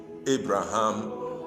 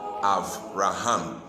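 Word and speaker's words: אברהם: We normally pronounce it Abraham or Abram, but the Hebrew way of pronouncing it is Avram and Avraham.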